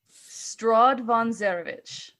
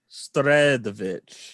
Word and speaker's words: Strahd von Zarovich: Strahd von Zarovich. Strahd von Zarovich. Strahd. Von. Very good. Stradovich. No, Zarovich. Oh, Zarovich. There you go.